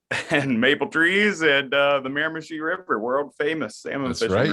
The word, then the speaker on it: Miramichi: Is that how you pronounce it? River. That's it. Yeah, Miramichi. It's a world famous salmon fishing river.